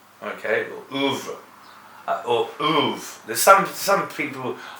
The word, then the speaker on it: oeuvre: But it's pronounced or.